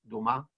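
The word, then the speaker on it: Thomas: luis liz josé tomás se escribe tomás pero es toma en francés tengo entendido que ocurre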